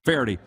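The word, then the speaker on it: Feherty: Faherty.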